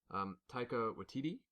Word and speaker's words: Taika Waititi: hope I'm going to butcher this name and I really don't want to, but Taika Waititi? I think it's how you pronounce it, yeah.